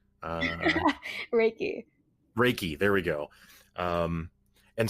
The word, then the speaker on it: Reiki: up the pronunciation because if you break it down to what it actually is it's just two Japanese kanji characters Ry and key and so Ry has